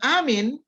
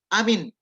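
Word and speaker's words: آمين: Ya, ingat ya, harus amin. Jadi ada dua panjang. Amin. Tidak boleh amin.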